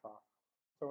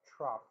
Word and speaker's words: trough: we call those trucks it's pronounced trough like cough that those are not